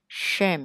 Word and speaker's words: shame: Đọc là rút lưỡi lại ha, đừng để cho nó dính vô cái răng nào hết ha. Xong cong cong cái lưỡi đó. Shame.